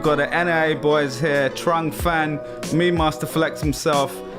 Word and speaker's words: Trung: So the Vietnamese pronunciation is Trung.